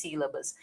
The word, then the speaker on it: sílaba: O mesmo acontece com sílaba, tá vendo? Ó? Uma posição, duas posições, a terceira posição é mais forte.